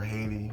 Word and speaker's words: Heidi: This is a picture of a girl, her name is Heidi, or Haiti, how she pronounces it.